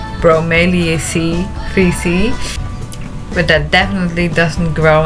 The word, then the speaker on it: Bromeliaceae: Yeah, I looked up how you have to pronounce it. Bromeliaceae 3C.